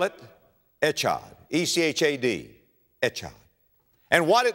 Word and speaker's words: Echad: If you're going to spell it, Echad, E-C-H-A-D, Echad.